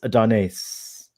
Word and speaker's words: Adonais: I don't know where Father got the correct pronunciation from, but for now on Starfleet Boy, it's Adonais.